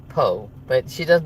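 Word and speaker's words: Pugh: She's Welsh so it doesn't sound like how it's spelled. But Richard Smith, the Keto Pro, he's Welsh also, so he says it exactly right. Go figure, right? Um, so it's more like Po, but she does not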